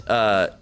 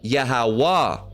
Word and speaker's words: Yahweh: or Yehovah, all right, but it should be Yahweh, not Yehovah, Yahavah, or Yehovah, or there's many different pronunciations that there is out there, but it's supposed to be Wah, not Va, all right, it's not Va, all right.